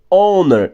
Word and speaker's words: honor: 15 eu leio air, porque esse H é mudo. Assim como hour na 16 e assim como honor na 17.